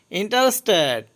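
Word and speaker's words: interested: এখানে ইন্টারেস্টেডের প্রথম যে টিটা এটার উচ্চারণ হবে, কারণ এটার পরে ভায়োল আছে, আর মাঝখানে আরের উচ্চারণ হবে যাতে আরের পরে ভায়োল আছে। আর দ্বিতীয় টি এর আগে অ্যাচ আছে, যার কারণে এই টি এর উচ্চারণ টি হবে, ইন্টারেস্টেড।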